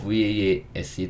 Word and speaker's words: vase: 오늘 가져 오진 않았지만 , B-A-S-E 는 "base" 로 , V-A-S-E 는 "vase" 로 읽지만 , 영어 발음 은 실제로 약간 다릅니다 .